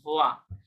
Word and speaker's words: voit: কারণ ENT silent, তাহলে ও আই পর্যন্ত উচ্চারণ হলে উচ্চারণ হবে ভোয়া, ইল il ভোয়া, voit.